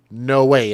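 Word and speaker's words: Noe: The children were identified as 10-month-old Billy, 6-year-old Bryce, and 11year-old No Way. And I think that's how you pronounce it. N O E. No way.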